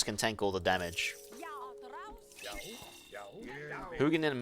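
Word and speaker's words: Huginn: Hugin and Minin. That's how you pronounce their names.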